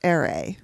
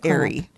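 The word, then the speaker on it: Arae: So I thought the Fates, I thought it was Ere. Oh, me too. It's Airy.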